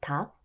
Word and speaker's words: 닭: Two final consonants can also be added, such as 닭, meaning chicken. In this instance, you only pronounce the 기억.